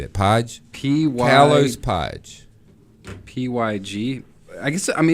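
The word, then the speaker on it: Pyg: It's Kalos Pig. P-Y-G. How would you say that? Pige?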